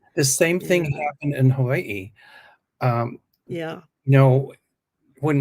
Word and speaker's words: Hawaii: uh and so now in certain schools in Hawaii Hawaii that's how it's pronounced part of the day is taught in